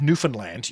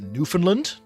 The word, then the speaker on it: Newfoundland: But I wouldn't call it like New Fundland, but it is like cuz some people would pronounce it Newfoundland, but it's not Lond like like how the English would say it.